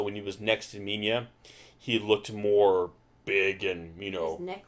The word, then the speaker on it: Minya: You can see that they call him Manila, right? Minya. I think it's pronounced more Minya.